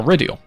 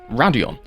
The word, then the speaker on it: Raidillon: turns three and four basically this massive hill are radial often mispronounced radion this is a french word meaning steep path and yeah um they're